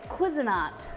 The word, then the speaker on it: Cuisinart: cuisinart i got taught how to say it cuisinart it is that bad boy oh look guys